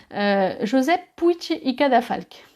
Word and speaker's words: Josep Puig i Cadafalch: Un autre exemple aussi d'architecte très connu, c'est Josep Puig i Cadafalch. Alors ça s'écrit Puig i Cadafalch.